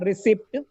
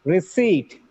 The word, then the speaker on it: receipt: Look at the pronunciation of this word. It's not receipt. It is receipt, receipt, seize, cinch, cinch.